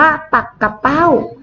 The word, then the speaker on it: ปักเป้า: มา ดู นะ คะ ปักเป้า คำ แรก อ่าน ว่า ปรับ เป้า หมาย ถึง ชื่อ เว้า ชนิด หนึ่ง นะ คะ ส่วน ปักเป้า คำ ที่ สอง เรา อ่าน ว่า ปัก กะ เป้า หมาย ถึง ชื่อ ปลา ชนิด หนึ่ง นะ คะ เห็น ไหม